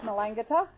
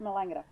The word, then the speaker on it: Melangata: so it is um it's pronounced melangata but those of us that have been here for a while just say it the way it's meant to be said it said melange monsignor john hawes and